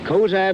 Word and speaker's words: Cozad: This is Maynard Smith, a halfback from, how do you pronounce that? From Cozad, Jim. Cozad, Nebraska.